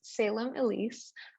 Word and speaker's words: Salem Ilese: it pronounced actually yes so the way it's pronounced is salem elise but honestly you can pronounce it however you want to i never get offended i've heard many different pronunciations and i'm fine with all of them and actually when i